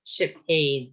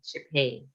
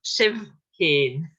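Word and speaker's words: sibh fhèin: Kimera Shiphain, Shiphain. And although we have a BH here, and FH here is pronounced as ha, so the same as TH.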